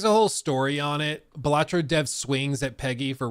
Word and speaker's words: Balatro: where the developer of batro which I learned at the game awards apparently it is batro not balatro it's you put the emphasis on the first syllable um which I didn't